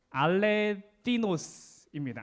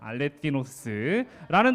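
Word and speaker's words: ἀληθινός: 알레티노스입니다. 알레티노스. 저 번데기 발음 영어에서 본 적 있지 않아요? 그 발음 그대로예요. 알레티노스라는 단어가 사용되는데요.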